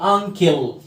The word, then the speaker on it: uncle: اليو صوته مع الان ان، والسي هنا بنطقها كي uncle.